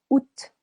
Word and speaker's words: Août: Juillet, 2 syllables. Juillet. Août, août, silent A.